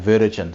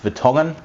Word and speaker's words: Vertongen: so they started saying Vertogen, so it is correctly pronounced Vertongen. It's a it's a Belgian name and uh and you